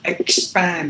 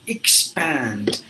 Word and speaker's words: expand: be encouraged in in not expand it should be e expand so these words I'm